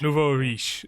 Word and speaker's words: nouveau riche: Nouveau riche, new money.